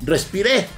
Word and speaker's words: respiré: Yo lo traduje y dice Anthony, quiso decir, cuando dijo que eliminaron el Panout, coma, respiré. Con acento en la última E.